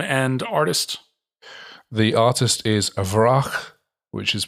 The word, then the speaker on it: Wraak: is the name and artist the artist is avrah which is pronounced which is spelt w-r-a-a-k which is a